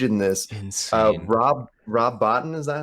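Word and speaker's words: Rob Bottin: is just huge in this instance uh rob rob botton is that how you say it yeah dude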